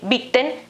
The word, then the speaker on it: bitten: Che qui la i in beaten è breve, invece qui abbiamo il dittongo ie, bieten, no? Quindi beaten la pronuncia, e quindi la I è più lunga e la T invece non è doppia, per cui è più, diciamo, è meno forte, quindi bitten, beaten, questa è la differenza nella pronuncia, bitten, bot, geboten.